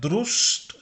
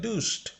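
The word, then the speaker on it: Durst: দেখুন আমি কিন্তু এটা দেয়া দ্রুষ্ট দুষ্ট এরকম বলি না, কিন্তু দেয়া দুষ্ট আর এর উচ্চারণ নেই।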